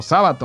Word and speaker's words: Sábato: la mano de sábato ernesto sábato o sábato más bien porque tiene acento en la primera que se llama informe